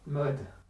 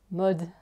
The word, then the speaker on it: Maud: Dis pas Maud. J'ai dit quoi? Mode. Maud. Maud. C'est A-U-D. Maud. Maud. Maud. C'est Maud.